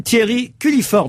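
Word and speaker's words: Thierry Culliford: leur 50e anniversaire et nous avons au téléphone Thierry culliiford bonjour bonjour J'espère que je n'écorche pas votre nom non non non vous le prononcez parfaitement bien qui était donc aussi le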